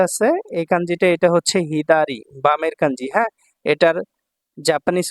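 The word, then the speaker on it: 左: number যে কাঞ্জিটা আছে এই কাঞ্জিটা এটা হচ্ছে হিদারি বামের কাঞ্জি হ্যা এটার জাপানিজ উচ্চারণ হচ্ছে হিদারি বামে আর চাইনিজ উচ্চারণ হচ্ছে সা তো এটা যখন সিঙ্গেল থাকবে তখন এটা হিদারি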